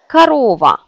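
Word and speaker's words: корова: Le même exemple avec Karova.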